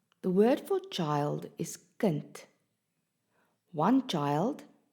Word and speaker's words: kind: Can you hear that the D at the end of the word is pronounced as a T?